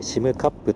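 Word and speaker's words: 占冠: これでシムカップと読みます。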